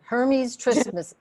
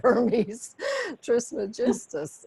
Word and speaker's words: Hermes Trismegistus: Hermes Trismus. No. I mean, I had some trouble there. So I went on Google, how do you say Hermes Trismegistus?